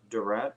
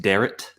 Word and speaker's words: Derrat: third podcast uh today i have uh duret is that how you say the last name uh no uh it's okay everybody pronounces it that way anyways it's actually pronounced deret garrett okay so just uh just a quick